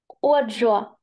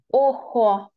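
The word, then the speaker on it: ojo: Це не G, це не англійська, це літерка хота. І я зараз повернуся, щоб ми от пригадали собі літерку хоту. Літерка хота завжди читається. Як глухий Х. Як глухий Х. Повертаємося, читаємо, як буде око. Охо. Охо, сі, охо, око.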